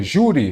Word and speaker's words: júri: Então, júri. A sílaba forte é a penúltima, ela é uma paroxítona terminada em I.